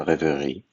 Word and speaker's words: rêverie: Clair de lune and rêverie by Debussy.